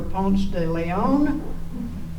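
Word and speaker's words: Ponce de León: us try to pronounce their names I remember Pon de Leon and we had to pronounce it we pronounced it Pon de Le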